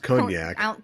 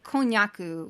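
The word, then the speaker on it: konnyaku: And again, I don't think it's pronounced konjac. Konjaku, which is the Japanese term.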